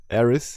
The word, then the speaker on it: Aerith: Not pronounced with TH, but it's spelled with TH. We can have a debate about this. But Aerith.